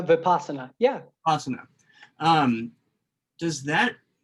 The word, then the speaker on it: vipassana: in your thoughts um was it the vaspana mispronounced that uh vipassana yeah awesome um does